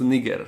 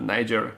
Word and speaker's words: niger: If you are using the Latin pronunciation, then it is pronounced niger, not niger.